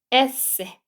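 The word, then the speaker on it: ese: 어 영어의 S 바라면 얘는 여기서는 에세 에세이라고 해서 에에 강세 주고 세라고 주면 돼요에 그다음 얘도 티죠 티도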